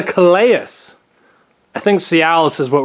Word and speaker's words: Calais: I did watch a video on YouTube on how to say the name. It's called the Calais.